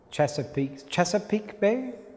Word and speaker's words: Chesapeake Bay: Let's connect with the guides, the benefactors of this beautiful Chesapeake Bay, that's how you say it, North Beach area, who are attuned with anyone who's gathered around something of goodwill, of good intentions.